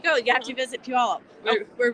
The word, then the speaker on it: Puyallup: like by the explanation you say pew like it smells and up oh yes there you